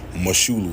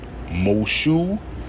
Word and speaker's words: Moshulu: Moshulu, like shoe on your foot. Moshulu, nigga. Moshulu Parkway.